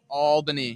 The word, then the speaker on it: Albany: Is saying you didn't say Albany correctly, but I disagree. You did say Albany correctly. So Denise, you're wrong. I've actually been told that before. How did it's ALL Albany. Albany.